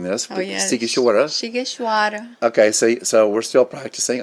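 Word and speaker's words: Sighişoara: we had to practice pronouncing this. Oh, yes. Sighisoara.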